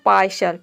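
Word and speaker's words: partial: ये हो जाएगा शल यहां पे जो टी लेटर है इसको हम श प्रोनाउंस कर रहे हैं पूरा हो जाएगा पार्शल पार्शल का मतलब होता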